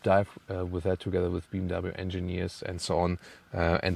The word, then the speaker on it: BMW: um so being B BMW yeah because in Germany we say BMV so BMW is BMV there's also separate Episode